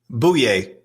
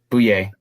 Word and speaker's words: Bouye: put this on I put that in the pronunciation on our sheet boo yay boo yay all right boy yay oh yay oh yay